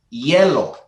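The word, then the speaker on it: hielo: Because in Spanish, ice is yellow. Yeah, because the G is like a H sort of sound? It's an H. Yeah. Oh, it's literally spelled with an H. Yeah, okay. Yeah, it's literally changed to an H. H-I-E-L-O. Yellow.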